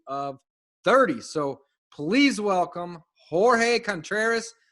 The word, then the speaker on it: Jorge Contreras: However, today I have one of my buddies, one of my friends, on the show, Mr. Jorge Contreras. Did I say it right? You said it right.